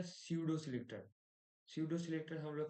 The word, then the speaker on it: pseudo: अब देखना, मैं एक काम करता हूँ, मैं क्या करता हूँ, ये स्यूडो टैग्स है, ठीक है, स्यूडो सिलेक्टर है। यहाँ पे पी साइलेंट रहेगा, पर मेरे को भी